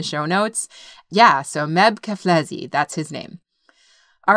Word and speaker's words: Keflezighi: his first name and his last name is pronounced keflezi and i actually had to look it up